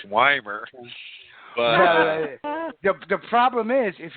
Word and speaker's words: Wiemer: My real name is pronounced Wiemer. Even though it's spelled Wiemer.